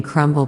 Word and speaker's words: crumb: You pronounce the B in crumble but not crumb.